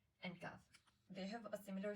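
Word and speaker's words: كاف: There are 2 letters, Qaaf and kaaf. They have a similar sound, and the difference between them is that Qaaf is pronounced heavily and kaaf is pronounced lightly.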